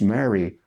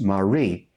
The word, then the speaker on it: Mary: I looked at it, I looked right there, it says it's Mary. She goes, no, it's pronounced Marie.